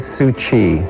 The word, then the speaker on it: Tzu Chi: from an English speaking perspective I know that suji can be a mouthful so how did you first pronounce it I've always said sui so I I think I hit it too